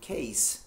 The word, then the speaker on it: case: Basic, é o mesmo caso da palavra caso, case, C-A. C-A-S-E, case. Right. Case. Case. Então, não é case, é case. Todos com a pronúncia de S mesmo, tá?